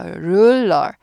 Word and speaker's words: ruler: 그래서 ruler 르 아니고 ruler R 발음이 힘듭니다.